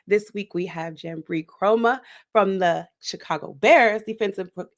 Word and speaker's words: Kromah: Jamry Chroma.